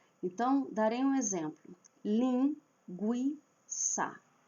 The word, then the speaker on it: linguiça: Então darei um exemplo, lin gui ça. Linguiça deveria ter o trema para indicar que a letra u, que a vogal u é pronunciada, lin gui guiça. Porque nós não falamos linguiça.